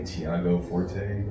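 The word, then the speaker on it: Tiago Forte: Um it was I think Thiago Forte.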